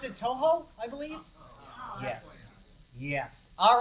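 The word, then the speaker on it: Touhou: That is from, do I pronounce it Toho, I believe?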